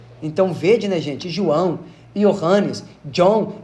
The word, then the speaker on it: Ioannis: Mas a fonética desse nome seria Ioannis.